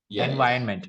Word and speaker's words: environment: in the middle so keep it silent and environment you can ignore the r completely you can say yeah ignore this take it out of the word itself no problem at all environment environment yes no r at all you said it some